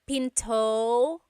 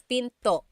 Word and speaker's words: pinto: p p and remember don't forget the glot stop don't forget to stop the sound at the end that's called a gladle stop Pinto Pinto it's not Pinto it's Pinto stop it at the